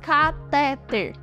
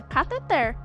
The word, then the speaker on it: cateter: segunda sílaba de catéter simplesmente não se diz cateter dando ênfase à segunda sílaba o correto está em como escrito mesmo sem palavras acentuadas ou seja cateter E aí você sabia